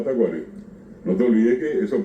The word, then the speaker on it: Tacuarí: Y hay palabras que también vos decís, bueno, por ejemplo, nosotros decimos tacuarí directamente. Tacuarí. Bien pronunciado tacuarí.